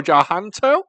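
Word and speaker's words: Tjahjanto: So, The Shadow Strays, a 2024 movie directed by Timo Tjahanto. I think that's how you pronounce it. It's difficult. It's got a silent T at the beginning, I think.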